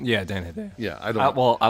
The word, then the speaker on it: Hedaya: Is that how you pronounce his name? Yeah, Dan Hedaya.